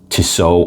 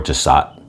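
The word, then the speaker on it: Tissot: I also brought up toso or tsat pronounce it how you like I'm going to say toso and um and that's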